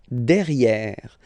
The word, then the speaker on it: derrière: So if you look carefully, you've got here and then double R, so it will open the sound of this and you should pronounce it okay? Derrière. Same thing here. You've got this accent grave, derrière.